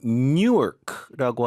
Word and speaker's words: Newark: 근데 이건 뉴크라고 하는 공항인데 이건 유저지주에 있어요. 바로 옆에 줍니다. 네. 발음이 되게 비슷해서 헷갈릴 수 있는데 뉴워크 뉴크 뉴크네 그렇게 발음하시면 되고 어쨌든 뉴욕은 전 세계에서